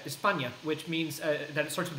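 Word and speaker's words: España: Spain the problem is someone from Spain in Spanish you pronounce that espana which means that sorts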